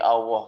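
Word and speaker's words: الله: katanya bukan Ya Allah dan harus dibaca panjang ya dibaca panjang minimalnya seperti Mad Thobi'i walaupun bukan pada saat membaca Alquran walaupun ketika pengucapan sehari-hari Gusti Allah marilah kita bersyukur kepada Allah dalam bahasa apapun lamnya Ini harus kita panjangkan maksudnya tidak dibaca pendek seperti biasanya seperti biasa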